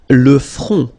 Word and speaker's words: front: Le front. Final T not pronounced. Le front. Okay, remember this nasal on, on.